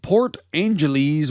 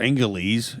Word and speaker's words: Port Angeles: this comes out of port angeles washington or angeles if you want to mispronounce it police have arrested a